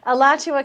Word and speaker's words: Alachua: i mean can you tell us the proper pronunciation of that county yeah alachua county uh which is i went to the